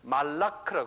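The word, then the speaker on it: מלאך: 근데 히브르 사람들, 유대인 사람들은 그 발음을 달려요. 말라크라 그래요.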